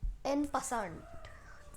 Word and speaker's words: en passant: पासेंट, एन पैसेंट, पासेंट, ये French word है फॉर I think ट्रेसपासिंग और समथिंग, एंड इसकी बहुत सारी अलग अलग प्रोनाउंसिएशंस होती हैं, सो यू can call it what ever you want. It's ENNPASSANT, पासान एंड पासान.